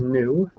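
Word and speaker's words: nu: uh frequency symbol is new it's pronounced just like the word NE W new and its frequen its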